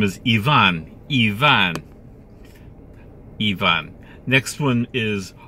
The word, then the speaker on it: Ivan: The name is Ivan.